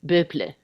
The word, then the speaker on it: Boepple: I mean, to be honest with you, it's a Swiss name. So I think Hmm. like the Swiss pronunciation is something like Boepple or something. But I'm not going to go, hi, my name is Boepple. I don't know. We've always said, just like. I honestly don't even know if that's correct.